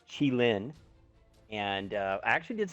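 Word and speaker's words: Qilin: new w zed tank and um it is pronounced chi lin and uh i actually did some research on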